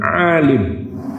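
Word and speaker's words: عالِم: Ketika kita mengucapkannya dengan alam, ainnya kita baca sedikit panjang dengan tambahan alif lalu lamnya dipatahkan. Akan berbeda ketika kita membacanya dengan alim, ketika lamnya dibaca kasrah.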